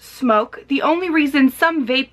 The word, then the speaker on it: SMOK: the smoke g80 and yes this is pronounced smoke the only reason some